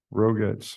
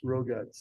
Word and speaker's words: Rogatz: Roguts. Roguts. Yeah. If it's spelled, you say it exactly the way it's. Yeah, it's phonetically correct.